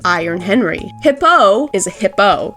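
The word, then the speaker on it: Hippeux: Hippo is a hippo. Yes, the X is silent in his name.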